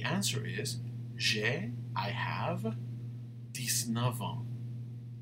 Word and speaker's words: ans: The answer is, I have 19 ans. S will never be pronounced.